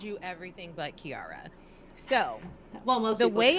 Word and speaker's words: Keyaria: is very musical right like key like a musical key and Arya like an Arya right so like people would always be like oh kiaria and I'm like no it's Kiara like oh well it's